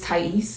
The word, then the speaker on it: Tyece: Um I just want to tell you guys my name is Tais. That's how you pronounce it. A lot of people get it wrong.